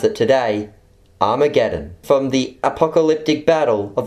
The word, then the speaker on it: Armageddon: pronounced in greek hama Geddon or as we pronounce it today Armageddon from the apocalyptic Battle of Armageddon in Revelation